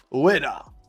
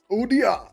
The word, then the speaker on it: Ueda: Udia! Opposite way around, dyslexic way. I know it's Ueda, but we can't. We want to say it properly.